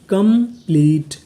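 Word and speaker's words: complete: टी ई इसे पढ़ेंगे ट क्योंकि आखिरी में इ है। हमें इ का उच्चारण नहीं करना। तो पूरी मीनिंग कंप्लीट।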